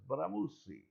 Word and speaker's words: Bramucci: name because to me it looks very Italian, very BRAMUCCI. Very You're right. Mm-hmm. And I had been rehearsing your name, Marcy BRAMUCCI, and then you told me, no, it's BRAMUCCI.